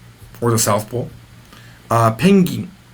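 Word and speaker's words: ペンギン: the South Pole uh pening pening is how you say penguin and the Penguin is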